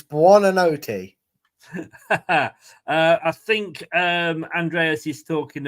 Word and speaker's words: Buonanotte: But look, I'll let you have a go at pronouncing that, Brad. Buonanotte. That's as good as you get it. It's Buonanotte.